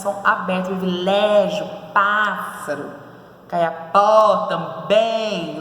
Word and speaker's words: pássaro: Isso, pássaro e indígena. Muito bem. Proparoxítona, que tem a sua sílaba tônica na antepenúltima sílaba, né? Ó, pássaro. E o acento ali, a sílaba tônica está no pá.